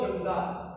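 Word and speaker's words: Koozhangal: Into the darkness, जल्दी कट्टू, बिट्टू और खो जंगाल। देखिए प्रोनाउंसिएशन थोड़ा सा अलग है इसका, तो जंगाल बोला जाएगा इसको, की साइलेंट के साइलेंट हो जाता है डिस्टेंस।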